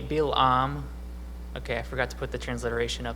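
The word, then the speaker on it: בִּלְעָם: at balaam's name so in hebrew it's actually bilam okay i forgot to put the transliteration up there uh so it's pronounced bilam and the first part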